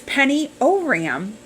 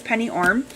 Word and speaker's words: Penny Oram: Is Penny Oram. Penny Oram. Again, love to pick on Penny because I always said her name wrong. It's Penny Orm.